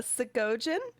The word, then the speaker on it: Segojan: Uh, Siggoan, which is spelled s e g o j a n.